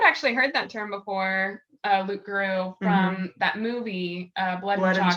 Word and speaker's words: loup-garou: It comes from the word Loup-garou, which is actually, that P is supposed to be silent because it's French.